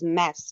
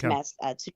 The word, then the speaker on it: MAS: So you pronounce it as mass just mass.